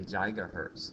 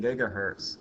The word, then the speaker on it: gigahertz: But you can also say jigahertz. That's an appropriate pronunciation, too.